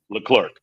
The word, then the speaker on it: Leclerc: Leclerc.